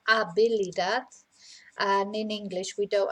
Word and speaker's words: habilidad: Okay, so in Spanish, of course, we don't pronounce the H, so it's la habilidad.